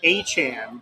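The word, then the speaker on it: Etienne: His last name ETN is supposed to be pronounced Achan, which means that Devin Han and Travis Han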